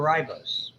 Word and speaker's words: ribose: Roll your R's for ribose.